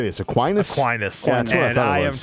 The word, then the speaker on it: Aquinas: Aquinas. Yeah, that's what I and thought it I am was. taking them. I'm taking Yeah, Aquinas. same. I was going to go Same. Aquinas.